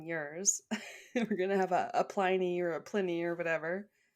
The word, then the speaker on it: Pliny: Yeah, Caesar and I always want to say Pliny. That's just always how I had pronounced it in my head, but I think you're right. It is Pliny.